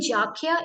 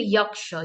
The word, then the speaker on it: Yaksha: Again, Jakhya is a local version of calling the Yaksha. Yaksha is actually a Sanskrit term, and with different dialects and with different languages the pronunciations changes, but the connotation and the meaning always remains same. For instance, in the Buddhist text, it is called Yakka, and again the Jain call it Yaksha.